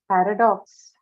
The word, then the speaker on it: paradox: facility okay now uh paradox paradox paradox what is paradox word class verb adjective noun paradox it's a noun Paradox is a noun so stress on should be on first syllable should be on first